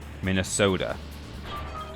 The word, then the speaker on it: Minnesota: True Minnesota would be uh would put a heavy accent on the third syllable. Minnesota.